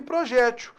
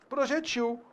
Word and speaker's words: projetil: Apenas no caso da questão aqui, você tinha lido anteriormente rptil e projétil, quando na realidade a pronúncia é o quê? Reptil, projetil.